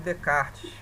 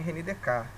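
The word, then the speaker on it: René Descartes: chamado René descarte né No Brasil a gente chama de Descartes mas a pronúncia francesa mesmo é renidecar então Renner ele chegou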